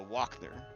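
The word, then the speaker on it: Wachter: wrong um so I was calling her the washer woman um but it's it's the walk there walk there yeah you really confused me like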